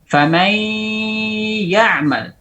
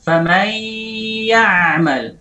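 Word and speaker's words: فمن يعمل: Famai, udah suara gunnah di sini, baru kita ucapkan ya'mal. Famai ya'mal. Famai ya'mal, seperti itu.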